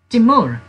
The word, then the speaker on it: timur: sichuan paper sichuan pepper sichuan pepper means timur or you can say timor also i am you are